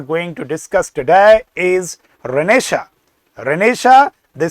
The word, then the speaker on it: Renaissance: Sometimes people call it Renaissance. Sometimes it is pronounced as Renaissance. All the pronunciations are wrong. The right pronunciation is Renaissance, which means Punarjagran.